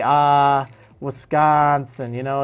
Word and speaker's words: Wisconsin: that you know but I call it Wisconsin and I put extra emphasis on the con and it's it's not